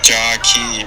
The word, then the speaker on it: Jakai: The man, the rookie who won his first match, I tried to call him Jockey. Let's get it right. Let's get it right. It's pronounced Jockey, bro.